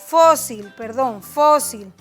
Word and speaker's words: fósil: Por ejemplo, fósil. Ahí está, fósil, está en morado. Ahí está mi sílaba tónica y es una palabra grave o llana.